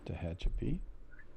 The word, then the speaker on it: Tehachapi: So those Indians was, I think, the Tehachapi, or however you say it. That's Tehachapi.